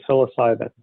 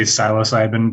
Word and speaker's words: psilocybin: Some people do say psilocybin, but it seems like most of us are saying psilocybin.